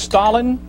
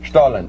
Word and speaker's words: Stollen: right into in into the Stalin now it's pronounced Stalin Stalin Stalin and uh it's a d which is the